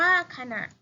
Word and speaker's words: ขณะ: นี้ ไม่ มี นะ ขณะ ขอ นอน อ่ะ ขณะ อ่าน ว่า ขณะ นั่ง เขียน นอน นี้